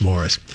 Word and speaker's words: Maurice: Why does Maurice Gibb pronounce his name Morris? The suggestion was that he just was adamant that when anybody would call him Maurice, he would always correct him and say it's Morris.